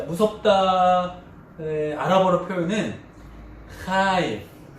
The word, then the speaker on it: خايف: 아랍어로 표현은 하이프. 자, 여기서 발음에 주의하세요. 하가 그냥 하가 아니라 하. 하.